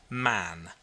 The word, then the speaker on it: Mahon: He had a Roman nose, a snow-white long beard, and his name was Mahon, but he insisted that it should be pronounced Man.